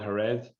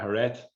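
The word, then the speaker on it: Jerez: the sherry producing region it's called hared j-e-r-e-z and again i'm pronouncing that probably horribly wrong with uh uh hurret so antonio paez is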